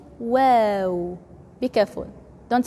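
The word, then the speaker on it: و: pronounce h h wow people usually read it read it wow this wow is in English but the Arabic W is soft so we say wow be careful don't say wow don't say w but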